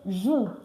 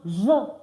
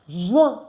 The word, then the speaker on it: juin: Some people used to say June. No. June is pronounced Juin. Juin.